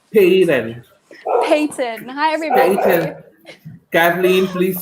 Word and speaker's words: Paton: Paton. Yes, you're saying Kathleen it right. Paton. Peyton.